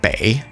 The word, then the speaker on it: 北: The reading bei is the modern standard one. However, the reading pronunciation, or duyin, is supposed to be bo, which more closely resembles the ancient pronunciation.